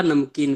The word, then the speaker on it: नमकीन: नहीं, लेकिन आप नमक का उच्चारण करिएगा तो पूरा म हो जा रहा है सर, ध्यान से लीजिए, सूक्ष्मता से अगर देखते हैं तो नमक, तो नमकीन नमक का नमक होगा, नमकीन का नमकीन होगा।